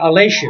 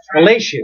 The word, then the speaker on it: Aleixo: And I've got Alessio. Is that? All right. So it was from Portuguese. All right. So Alessio. So Christian with a K, people. Christian with a K, Alessio, but it's spelled Aleixo.